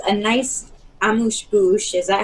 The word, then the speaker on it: amuse-bouche: I definitely agree, and it's a nice amuse-bouche. Is that how you say it? Yeah, amuse-bouche.